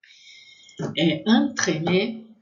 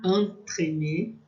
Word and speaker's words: entremets: Entremets, vai ter som de A, entremets. Entremets, com S no final, vai ser plural e a gente não vai pronunciar, mesmo assim, mesmo sendo pronuncial, vai ser a mesma pronúncia.